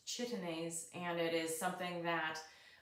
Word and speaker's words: chitinase: that are sucking insects it's an enzyme called chitinase it's pronounced chitinase and it is something that when plants when